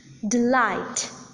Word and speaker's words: delight: For instance, in the words like about, deceive, delight, the second syllable is accented.